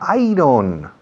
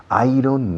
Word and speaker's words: iron: Ah, iron. No. Iron, no. Iron. ¿Cómo? Iron. Yo, como si dijeras, yo gano. I earn. Acentuando I.